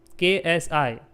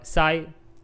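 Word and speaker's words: xi: This is KSI. You can say it as sky, okay, or psi. Generally K is silent. We say it as psi, but it is KSI.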